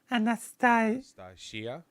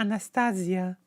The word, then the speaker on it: Anastasia: Anastasia. No. People are saying second to last syllable. Anastasia.